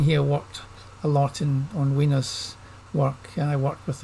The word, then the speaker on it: Wiener: It was him that told me that he liked his name pronounced Wiener. I know some people say you should call him Wiener, but he apparently pronounced his name Wiener.